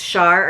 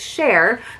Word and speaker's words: Cher: yeah it's got the it's got the line over it so it's a long a so it's Cher the love uh versus Char so it says now